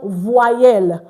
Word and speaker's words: voyelle: Don't include the E before the Y. So Adetoro, it's pronounced voyelle. Okay, everyone, voyelle, voyelle, voyelle.